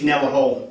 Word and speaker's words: Kneller Hall: And an ex-army musician, and you've studied at the prestigious Royal Military School of Kneller Hall. Am I pronouncing that right? Yeah, Royal Military School of Music, Kneller Hall.